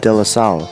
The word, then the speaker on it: De La Salle: Yeah, Khalid Johnson, he was at how do you pronounce that? De La Salle.